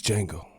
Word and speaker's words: Django: DiCaprio shit in Django name is Django the D is silent Bill Cosby is legally